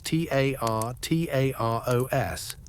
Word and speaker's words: Tartaros: Harsh sounds, sharp syllables, like a dark rumbling, a deep groan.